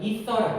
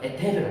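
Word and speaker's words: ether: 글리코사이드 결합이라고 또는 이렇게 있는 걸 유도체에서는 이서라고 그래. 이서. 에테르라고 그래. 에테르. 영어식 발음으로 이서예요. 이서.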